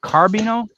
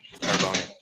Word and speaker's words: Carboni: Is it Carbino? No, Carboni.